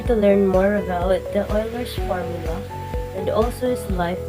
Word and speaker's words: Euler: One of his formula is sometimes called Euler's polyhedral formula. His name pronounced Euler.